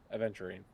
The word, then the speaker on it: Aventurine: I think it's Ava Aventurine. something. Oh wait, wait, which one are we talking about? Starwell. Okay, blonde hair, Yes, Aventurine.